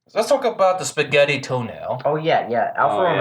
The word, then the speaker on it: Tonale: But anyway, let's talk about the spaghetti toenail. Oh yeah. Alfa Oh, Romeo yeah. brought a new crossover, and I think it's supposed to be pronounced like tonale, but it's actually pronounced toenail. Yeah, pretty much toenail.